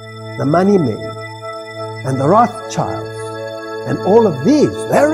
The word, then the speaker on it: Rothschild: Now, this word Rothschild is, of course, a total mispronunciation. It's a German word, and it means Rothschild.